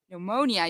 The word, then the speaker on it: pneumonia: all the letters, but in pneumonia, you don't say the P.